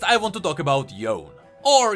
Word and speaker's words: Yone: Next I want to talk about Yone, or Yone as Yasuo pronounces it.